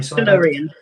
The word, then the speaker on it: Tellurian: Do you want to pronounce that for me? Tellurian.